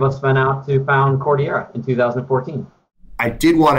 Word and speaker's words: Cordillera: It's not easy for people to pronounce. And we get Cordillera 90% of the time, we get Cordillera 5% of the time.